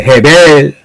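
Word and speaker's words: הבל: 그런데 두 번째 카인의 아우 이름이 원래 히브리어 발음은 헤벨이에. 해벨 전도서 1장 1절에 헛되고 헛되다 모든 것이 헛되다라는 말에서 해벨이란 말이 자만치 보이는 반복이 돼요.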